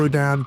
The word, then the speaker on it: Houdin: And they called themselves the Houdini brothers because they thought Robert Houdin pronounced his last name Houdin, and they just added an I to the end of it.